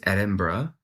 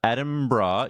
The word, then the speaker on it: Edinburgh: I think it's Edinburgh. Like bruh.